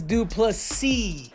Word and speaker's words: Du Plessis: that's right the DDP draus dupy that's right with a silent ass at the very end guys I underestimate this